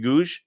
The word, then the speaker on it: Gouge: for entertainment news PS my name rhymes with baton rouge oh okay so it's Googe goosh rhymes with Baton Rouge like Baton Rouge I've been there it's